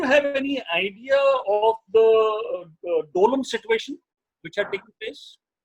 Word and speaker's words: Doklam: It is pronounced as Dolam. Dolam.